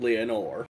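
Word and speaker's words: Lenore: The reason that I clocked that it was The Raven is because he said Leonore, and I remember that what The Raven says is nevermore, which rhymes with Leonore.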